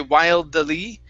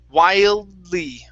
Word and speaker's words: wildly: time wildly so uh do not end the d sound you don't want to say wild daley wildly wildly quietly okay uh